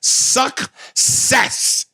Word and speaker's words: success: Man, he does not pronounce the C in that motherfucker at all. It's success. That nigga is straight deboned the snake, nigga.